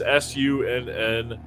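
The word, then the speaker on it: Sunn: yeah the spelling is s-u-n-n-o and then a parentheses or parentheses parentheses okay i pronounce the o i don't pronounce the parenthesis is that yeah no it's just sun yeah the o is silent thanks for saving me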